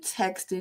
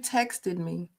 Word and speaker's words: texted: text you last week no you texted me you text me like come on y'all it's texed if it's spelled that way why do you think you can omit the T why do you think that you can say text instead of texted when the t is right there it's right there